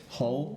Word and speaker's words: Hull: say the town hle Hull Hull like the hull of a ship okay the Hall of